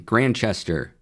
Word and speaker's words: Grantchester: Well, detective show I'm watching, Grantchester, and there's a T in there that you don't pronounce.